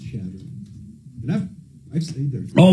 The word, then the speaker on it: Chadron: Pronounced Chadron.